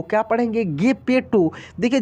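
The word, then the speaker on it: Geppetto: यहाँ पे देखिए ये वर्ड जो लिखा है GEPP, ठीक है, PPE और TO, इसको हम लोग पढ़ेंगे गेपेटो। क्या पढ़ेंगे, गेपेटो।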